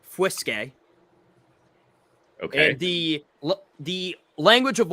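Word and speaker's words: fuisce: all right cool uh so it's spelled f-u-i-s-c-e pronounced whiskey okay the the language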